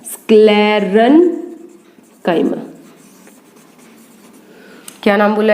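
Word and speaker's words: sclerenchyma: उसके बाद है स्क्लेरन-काइमा, क्या नाम बोला है यहाँ पे, पैरेन्काइमा, कोलन-काइमा, स्क्लेरन-काइमा।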